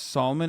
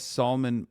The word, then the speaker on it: Salman: your Muslim background if you pronounce Salman as Solomon by the way okay